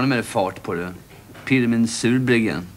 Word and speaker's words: Pirmin: Pirmin Surbryggen. Pirmäng. Va? Pirmäng Surbryggen, det är franskt uttal. Han kommer från franska Schweiz.